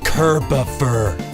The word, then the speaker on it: Kerboffer: Dude, I've told you like 11 times now, it's pronounced Kerboffer. It's like Christopher, except Kirbier.